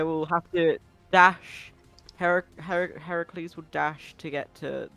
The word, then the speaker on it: Heracles: one of maran's bears is it Heracles or Hercules which is the preferred pronunciation of your bear's name uh Heracles Heracles so it was Heracles who had last